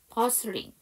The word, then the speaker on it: bustling: 버슬링에서 T 사운드가 묵음이에요.